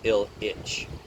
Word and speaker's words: Ilyich: And Ilyich is pronounced Il-Ich, the ills and itches of mortal life.